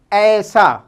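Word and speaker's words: ایسا: इसी का दूसरा यूज़ है अपना, अलिफ पे नून अलिफ, अपना, अपना, अपना इंग्लिश में कहलाता है, सॉरी, ऐसा, अलिफ ये सीन अलिफ, ऐसा।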